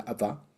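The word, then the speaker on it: Abba: no es Aba padre en arameo sería Aba ya y con una B mucho más pronunciada Va ava padre AB Va padre ya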